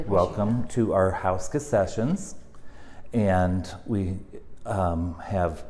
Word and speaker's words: Houska: Everyone still says Houska when it's Houska. But anywho, ska. Ska. Welcome.